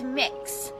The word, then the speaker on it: Mix: name is mix K it's mix so kind of like cookie mix or mixing bowl that sort of thing that's how it's pronounced that is my name